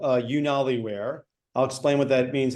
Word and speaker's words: UnaliWear: So the company is called UnaliWear. I'll explain what that means in a second, but it's spelled, I'm sure it'll be in the copy.